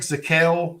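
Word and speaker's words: Zakelj: great uh for him nick zakale spelled zakelge but the jay is silent played at fordham uh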